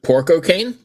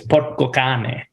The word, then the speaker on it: porco cane: So the single, here we go again with the pronunciations, but porco cane? Close. It's Italian, actually. It's porco cane.